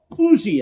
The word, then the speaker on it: Huger: So we had landed at the plantation of a Monsieur Auger, a Benjamin Huger, or Ougie as they pronounce it there in South Carolina, an ardent patriot, but he had mistaken me and my companions for Englishmen.